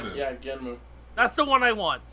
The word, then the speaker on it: Genm: Genum. Genmu. Yeah, Genmu. That's the one I want. It's Genum. It's spelled Genom, but it's pronounced Genmu.